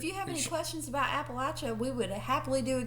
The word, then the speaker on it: Appalachia: Uh I heard this expression one time to teach people how to say it properly. I said, "If you say Appalachia, I'm going to throw an Appalachia," which is how uh we were taught that it was pronounced.